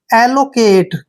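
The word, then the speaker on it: allocate: clear next word देखिए A double L ओ सी ए टीई देखिए ए का उच्चारण हम यहां पर क्या कर रहे हैं ए और एल का जो उच्चारण करेंगे डबल एल को हम ल पढ़ेंगे और ओ को यहां पर ओ की मात्रा पढ़ेंगे और सी ए का उच्चारण हम यहां पर क और ए की मात्रा करेंगे टीई को हम ट पढ़ेंगे एलोकेट क्या पढ़ेंगे एलोकेट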